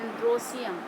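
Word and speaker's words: androecium: और इसको स्टेमेन को बोलते हैं एंड्रोसियम, सीधे सीधे बोलते हैं, स्पेलिंग उसी तरह से एंड्रोएशियम, ई लगाते हैं इसलिए, लेकिन बोलते हैं एंड्रोसियम।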